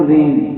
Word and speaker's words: rein: ठीक है, स्पेलिंग इसकी जी वाली है, लेकिन इसकी प्रोनाउंसिएशन क्या, बारिश वाली. बोलो रेन.